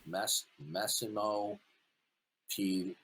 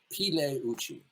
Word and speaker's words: Massimo Pigliucci: His name is Massimo Pigliucci. The G is silent. Pigliucci. Massimo Pigliucci.